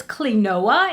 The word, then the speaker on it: Clionadh: but like i said i believe you pronounce this clinoa it's c-l-i-n-c o i